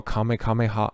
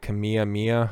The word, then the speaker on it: kamehameha: out here you got chi energy throw a kamehameha or kameh kamehameha i can't believe that there was some dork who ended up not pronouncing that right kamiyah mia oh my lord these people on the internet